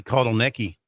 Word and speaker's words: Kotelnicki: They lost Andy Kotelnicki. Did I pronounce that right?